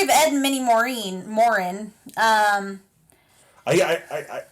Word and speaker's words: Maurin: Ed and mini Morin Moren um I I I Moren like a Warren with an M nope m a u r i n Moren yeah okay yep like